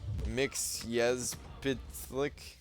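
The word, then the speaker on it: Mxyzptlk: It's pronounced Mixyezpitlik.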